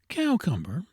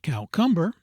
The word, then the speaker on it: cucumber: To this class belong clerk, cucumber, and gold, which are often pronounced as spelled, though it were better and more in conformity with polite usage to say Clark, cowumber, not cowcumber, and gould lutinant lieutenant.